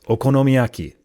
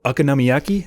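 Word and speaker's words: okonomiyaki: say the Japanese foods because I only learned it in Japanese. Okonomyaki. That's how I know that word. I don't know how Americans say it.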